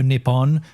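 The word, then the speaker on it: ニッポン: It's the "Oh Nippon, Nippon," and it's I ChatGPT'd it because I was like, what are the Japanese people singing at the World Cup? And it's it's "Oh Nippon," which is the original name for Japan, or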